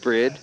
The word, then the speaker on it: BRIDE: yes bride brid is spelled bride but it's pronounced bread and the samurai is